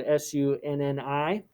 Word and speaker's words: Sunni: first three groups include the sunni muslims which is spelled s-u-n-n-i sunni and we briefly went into that yesterday